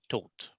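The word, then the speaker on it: Tóth: So Laszlo, and the taught would be like as if without the H. So taught, like the English word, the past tense of teach, taught. You know, the same. Okay. That's the same pronunciation. Right. Well, I've never have got that. So yeah, I mean, it's in Hungary. It's quite common to have like H in the end of the names, but it's like a silent H. You don't really pronounce it.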